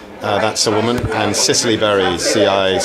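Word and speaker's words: Cicely Berry: yeah paty rodenberg uh that's a woman and Sicily Barry cic c l y v e r y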